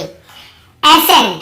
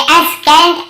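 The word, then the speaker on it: ascent: जैसे देखिए एसेंट, हम क्या पढ़ रहे हैं, एसेंट, यहाँ पे एसेंट या एसकेंट ऐसे नहीं पढ़ रहे।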